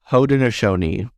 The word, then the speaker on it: Haudenosaunee: It's pronounced Haudenosaunee.